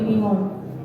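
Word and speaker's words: 日本: call it Japan, how do Japanese citizens actually pronounce the name of their country? Is it Yaponi, Seishun, Sukai, or Nihon? B, Nihon. Final answer? Final answer. Wow, you knew that right away. It is Nihon for $2,000.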